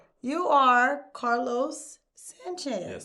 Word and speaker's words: Carlos: So, I had to make sure I did that s the hard s at the end.